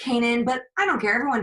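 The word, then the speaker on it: Canaan: And we went to Isaiah Kanan and we said, hey, is it Cannon or Kanan? And he goes, oh, it's Kanan, but I don't care.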